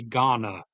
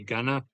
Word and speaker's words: Ghana: they do not say Ghana. They do not like put emphasis on either of the vowels that in in the name.